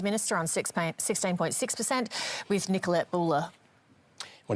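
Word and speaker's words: Boele: Nicolette Buller, I think the pronunciation is. It is Buller.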